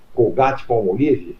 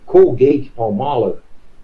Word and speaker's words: Colgate Palmolive: Em 1995, Maurício, a empresa norte-americana Colgate Palmolive, que aliás, né, eles pronunciavam Colgate Palmolive. Colgate Palmolive. Colgate Palmolive. Colgate Palmolive. A gente fala Colgate Palmolive, eles ficavam meio como?